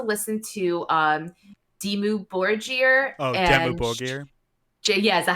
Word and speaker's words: Dimmu Borgir: Oh, Dimmu Borgir. Yeah, is that how you say it? Yeah, it's how you say like it. Dimmu Borgir.